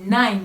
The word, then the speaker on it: nine: ça va se prononcer ça se prononce comme un high et non comme un i donc dans ce cas 9 c'est nine et non donc 9 c'est nine nine maintenant de 10 jusqu'à